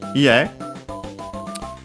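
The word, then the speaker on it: 家: Ie, which means house. Accent on the last syllable.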